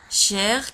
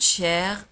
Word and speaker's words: cher: Cher, كما قلت لكم. Cher, هو غالي. ساكوت شير هو مكلف جدا أو غالي. شير تكتب ب سي اش او ار.